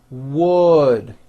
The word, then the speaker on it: wood: city of hollywood california the vowel sound in wood is also a lower vowel same sound is in the word foot wood foot what makes it difficult for many people is the w at the beginning i've seen many foreign speakers just drop that w sound the word is not